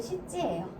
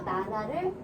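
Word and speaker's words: しち: 그 다음에 시진 하나 있는데 원래는 7에 해당하는 말은 시지예요. 요 1의 이지하고 이 7의 시지가 거의 비슷하게 들리는 경우가 있대요. 그래서 이지라고 안 들리고 뭐 시지로 들린다거나 시지 하는데 요 시옷 발음이 약하다 보니까 이지로 들린다거나 그래서 나나를 선호하는 경향이 있어요. 근데 원래 시지입니다.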